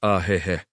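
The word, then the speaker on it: ahéhee': It's pronounced ahehe.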